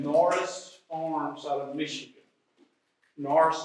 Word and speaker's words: Nourse: Norris is spelled Nourse.